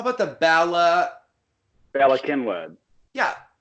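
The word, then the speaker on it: Cynwyd: Speaking of weird spelling and pronunciation, insane. The damn river. How about the Bala Kinwood? Yeah, Kinwood. Okay. Yeah, so they say Kinwood.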